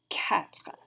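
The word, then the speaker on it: quatre: phrase you'll notice that the number four looks like the word quarter but a q u in french makes a hard k sound so that's going to be katra like a cat try it for me one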